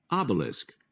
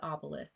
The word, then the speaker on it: obelisk: Obelisk. Okay, it is obelisk. My bad. Yep, I was mixing it up with oubliette.